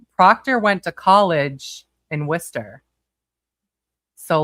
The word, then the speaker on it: Worcester: Proctor went to college in Worcester. So, like I know people that went to college with him. Worister or Wister Shower? Worcester.